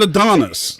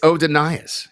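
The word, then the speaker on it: Adonais: like look at the word there's that's not Adonis it's OD denias yeah and Adas not odas adanas whatever he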